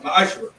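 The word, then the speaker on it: מעשר: It means 10th in Hebrew, and it's pronounced ma'ashra.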